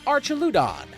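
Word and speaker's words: Archaludon: Uh, the last two up are a Kindra holding the expert belt and an Archeludon.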